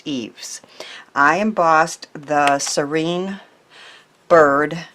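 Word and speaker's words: Yves: and it is called eaves it spelled Y ves and it's a really pretty floral one and my husband who knows French said it's pronounced eaves I embossed the serene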